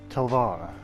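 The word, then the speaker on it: talwar: In terms of historical significance, it's a bit hard to tell, but perhaps the Telwar, or pronounced Telvar, the Indian Middle Eastern sword.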